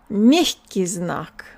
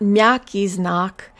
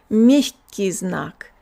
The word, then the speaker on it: мягкий знак: The soft sign is pronounced мягкий знак. So it's not мягкий знак. Our tongue doesn't have time to go low enough to say мягкий знак. It's мягкий знак.